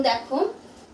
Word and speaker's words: the: তখন আমরা টি এইচ ই শব্দটিকে দা হিসেবে উচ্চারণ করব আর যদি কনসোনেন্ট না থাকে ভাওয়েল থাকে তখন আমরা শব্দটিকে দি হিসেবে ব্যবহার করব যেমন দেখো ই ডাবল জি এগটা হচ্ছে কি ভাওয়েল দিয়ে